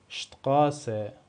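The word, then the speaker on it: Straße: مثل اشتقاق مثل اشتقاق اینجا دوستان ما دیگه این رو ش تلفظش می‌کنیم ما دیگه اینجا چون بعد از اس حرف ت اومده این کلمه رو می‌خونیم اشتقاس به معنی خیابان یا یک مثال دیگه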